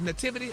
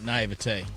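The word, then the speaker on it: naïveté: How you say it? Nativity or naivety? Naivete. Naivete. All right for naivete.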